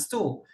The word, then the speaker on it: STOW: you pronounce it as STOW, S-T-O-W, STOW.